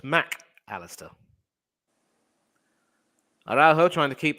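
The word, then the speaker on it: Mac Allister: Argentina and that's why whenever he writes his name the mac and the Alistar are separated so his name is officially pronounced Mack Alistair I'd also trying to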